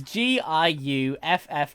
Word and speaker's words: Giuffre: I think I know how to pronounce this. So Virginia Giuffre. I want to say Giuffre. It's Giuffre.